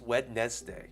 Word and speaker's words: Wednesday: Why is it pronounced Wednesday? Like the N is before the D when you pronounce it. Wednesday, but it's actually Wednesday. The D is before the N.